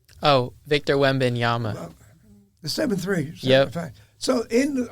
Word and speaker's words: Victor Wembanyama: Oh, Victor Wembanyama.